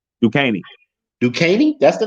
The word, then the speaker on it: Duquesne: Duquesne. Duquesne? That's the name? Yeah. Okay. Talk about S. Yeah. DUQUENSE. Yeah. Okay. Duquesne.